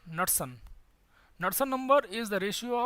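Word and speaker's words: Knudsen: It's Nusselt number, Nusselt number. K is silent. K N U D S E N Nusselt.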